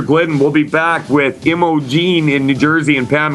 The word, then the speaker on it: Imogen: Am I pronouncing that correctly? Imogen, yes.